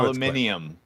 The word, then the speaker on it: aluminium: Just so Aluminium. Where do you get okay.